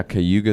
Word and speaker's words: Cayuga: It is now you're going to help me with this pronunciation, Cayuga Sound. Yeah, Cayuga Sound.